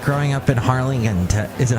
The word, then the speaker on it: Harlingen: I have to ask you, what was it like growing up in Harlingen? Is it Harlingen? Harlingen. You could just pronounce, the G is Jen, so Harlingen.